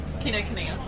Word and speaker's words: Kinokuniya: Chloe, how do you pronounce the name of this bookshop? Kinokuniya.